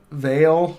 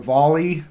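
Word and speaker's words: Vale: on that one yeah veil or volley i think it's pronounced volley they do iron i believe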